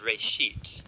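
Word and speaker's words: רֵאשִׁית: Genesis comes from a Hebrew word, it's pronounced Reshit, and it just means beginning.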